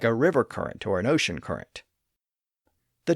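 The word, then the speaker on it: Courant: Usually spelled in the older way, but pronounced as current, like the Hartford Current in Connecticut.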